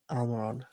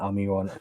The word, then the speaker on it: Almiron: Yeah, Miguel Almiron. There's no W in the only Miguel. person that can tell me I'm pronouncing it wrong is Miguel Almiron himself.